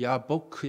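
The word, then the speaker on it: יבק: 얍 보기 잖아요 근데 그 얍 복도 히브리어로 발음하면 야 보크 해요 그럼 이 아 법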